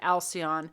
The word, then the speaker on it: Alcyon: It's like Halcyon days, but Alcyon, because that's where that word derives from.